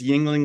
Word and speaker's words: Yingling: you said it perfectly it's Yingling like the beer except it's spelled differently and I don't get